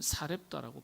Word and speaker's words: 사르밧: 엘리야 선지자가 하나님의 명령을 따라서 사르밧 아 사르밧이라는 동네로 어 원래는 이제 원문을 보면 사렙다라고 발음을 합니다.